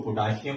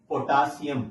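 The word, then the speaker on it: potassium: आप ऐसे करते हैं लोग सुनते हैं इसको पोटेशियम प्रोनाउंस करते हैं मैग्नीशियम इसको एस्मा प्रोनाउंस करते हैं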